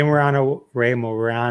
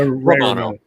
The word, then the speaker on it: Romano: It was great, and Ray Morano was great. And close. How do you say it? Close, right? Romano.